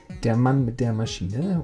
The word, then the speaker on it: Der Mann mit der Maschine: This is how it's pronounced. Der Mann mit der Maschine, which is Matthias Kettner.